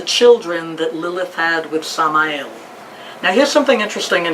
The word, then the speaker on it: Samael: mean in Sephardic Jewish tradition, we call Satan Samael. You spell that S-A-M-A-E-L.